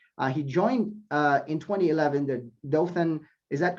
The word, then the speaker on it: Dothan: He joined in 2011 the Dothan, is that correct? Am I pronouncing that correctly? Yes, Dothan Downtown Redevelopment Authority.